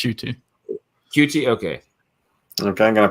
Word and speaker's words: Ncuti: It's spelled NQT, but yeah, it's Ncuti.